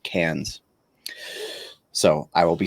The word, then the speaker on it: Cairns: to point out that this word here, CAIRNS, in America, we would call that Karens, but in Australia, you'd pronounce it like cans.